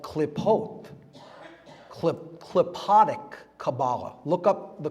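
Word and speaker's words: Qlippoth: It's called klipot, klipotic Kabbalah. Look up the klipot. It's spelled Q-L-I-P-P-O-T-H.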